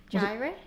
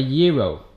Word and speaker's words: gyro: Gyro? It's not called a gyro. Oh, what is it? A chicken wrap? A gyro.